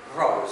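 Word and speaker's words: Rawls: la universidad de Harvard es John Rolls se escribe rous con w está el libro de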